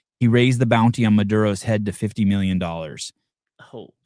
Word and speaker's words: Maduro: Maduro. Am I saying it right? Maduro? Maduro, yeah.